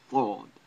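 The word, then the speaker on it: ث: Th sound, because of the Arabic letter thawd. It's similar to the English TH, the. Thawd.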